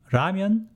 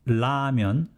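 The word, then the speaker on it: 라면: pronounced with l sound ramyan is the first charm of a character la so some people pronounce as lamyon with l another group of people pronounce it as ramyan with a soft r but nobody actually pronounced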